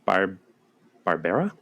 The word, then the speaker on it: Barbera: Michael Pataki played Captain Barbera. Yeah, say it like Hanna-Barbera.